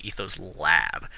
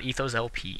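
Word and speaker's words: EthosLab: ethos i think actually i said it wrong in the last video it's actually ethos lab not ethos lp ethos lab um this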